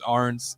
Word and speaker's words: Arns: Yeah, I was gonna say I get my last name's Arns. It looks like Aaron, so I've got Aaron's all the time.